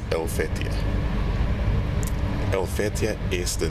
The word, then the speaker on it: Helvetii: You know, in Latin it's Helvetii, but the H is often not pronounced, so it's Helvetii.